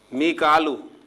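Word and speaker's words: ميكال: मीकालू, जिसे हम मिकाइल कहते हैं, तो कुरान मजीद में इसे मिकालू प्रोनाउंसिएशन के साथ जो है लिखा गया और अदा किया गया।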